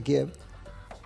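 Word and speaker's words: Kyiv: Vos fíjate que antes de que llegaran los tanques a Kiev, como pronuncian los ucranianos, entró el malware.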